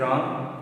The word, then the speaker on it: wrong: See, in the story, Helen's parents realized that something is wrong with her. Notice the pronunciation of wrong. Wrong, wrong. Wrong. W you should not pronounce. Wrong. The W is silent in it.